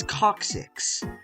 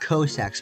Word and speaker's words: coccyx: landing on his coccyx not Cossacks but coccyx which is the medical term